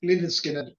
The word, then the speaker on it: Lynyrd Skynyrd: But yeah, pronounced. Lynyrd Skynyrd, pronounced.